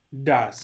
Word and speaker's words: does: Does. Es como si esto fuera una A. Does. Como si la O y la E fueran una A. Así se pronuncia.